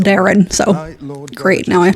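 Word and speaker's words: Daeron: call on them to the which is apparently pronounced Darren so great now I have to get used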